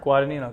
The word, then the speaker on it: Guadagnino: How do you say Guadagnino? Guadagnino, good, very good.